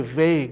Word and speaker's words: vague: You don't pronounce the U and E, just say vague, okay?